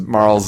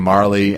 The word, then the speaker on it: Marle: touched on it, but he pronounces Marl's name Marley, and I don't think I know when he was a kid and doing that, but I just can't take that seriously. I pronounce it Marl. Yep. If there was a Y, yes, sure, Marley.